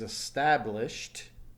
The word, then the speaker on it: established: So the past tense is established. No vibration. Takes a T sound.